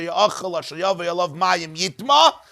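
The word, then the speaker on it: יטמא: We're talking about the Rabbi Akiva who told us that when it says Yitma, it's pronounced Yitma, but it could have been pronounced Yitame, which means that the Torah wants you to include Yitame in the interpretation of the pasuk.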